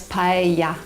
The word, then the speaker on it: paella: With the dish itself, I've always known it to be pronounced as paella, but that isn't correct, is it? No, the double L in Spanish is pronounced like the English Y.